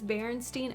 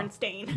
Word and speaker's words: Berenstain: They I- just pronounced it as Berenstein. I think it was Yeah. just a common misread thing that Yeah. people just Yeah, said Berenstein because it sounds better than Uh-huh. Berenstain.